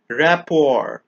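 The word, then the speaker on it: rapport: chewing gum Pizza mayonnaise rapor remember the letter T is silent in this word the letter R is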